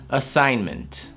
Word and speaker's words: assignment: Assignment. Вы слышите, как я произнес N? Assignment. То есть G, естественно, здесь я не произношу.